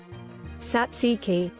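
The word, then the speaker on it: tzatziki: What does Google say for Zatziki? I I've never had to say this before, so apologies. Uh, okay. So this is American tziki. Tziki. Taziki. Satsiki. Yeah, there we go. That's better.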